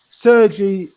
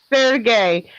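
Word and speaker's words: Sergei: putin's chief of staff sergi ivanov sergey they don't use the soft g like that in russia everything's hard including the vodka okay so sorry sergey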